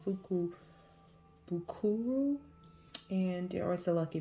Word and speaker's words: Fukubukuro: So I have been getting these lucky bags, and it's a part of the Japanese tradition of, I think it's pronounced Fukubukuro, and there was a lucky bag tradition on New Year's Day in Japan.